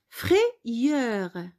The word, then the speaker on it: frayeur: Alors, au lieu d'écrire deux I, on écrit Y. Alors, j'espère que vous avez compris cette partie-là. On continue. Quand le son I s'écrit Y, le Y généralement joue le rôle de deux I.